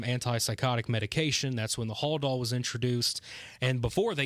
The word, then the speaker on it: Haldol: plan to give Allen that I believe it's pronounced, is it Hadol, I believe is what the medication was. Haldol.